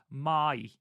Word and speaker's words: Mai: Cast, someone did note that we've been saying Mai Sakurai's name wrong the entire time. It's actually Mai, apparently.